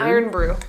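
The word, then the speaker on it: Irn-Bru: Is it iron? Iron brew. So IRN brew.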